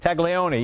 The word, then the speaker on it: Taglioni: Fabio Tamerlan how do you say it Leone Taglioni yeah he was the father in the DES